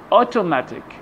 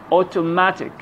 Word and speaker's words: automatic: Put the stress on the syllable before IC or ICAL. For example, photographic, photographic, graphic, electrical, electrical, automatic, automatic, automatic.